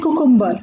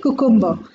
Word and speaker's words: cucumber: The next word is C-U-C-U-M-B-E-R. I repeat, it is C-U-C-U-M-B-E-R. Aur isko log usually pronounce karte hain cucumber. I repeat, cucumber.